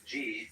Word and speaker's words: Ji: The word Ji, which is Japanese way of pronouncing the Chinese Chur, is the world of things and events.